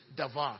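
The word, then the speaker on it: דָּבָר: Or actually, in the true pronunciation, davar. Even though it's written as D-B-A-A-R, D-A-B-A-R, it's pronounced as davar, right?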